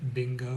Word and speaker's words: bingo: If you were going to divide bingo into two syllables, naturally you would divide it between the N and the G. So you don't have bingo, you have bingo. And that should be clear.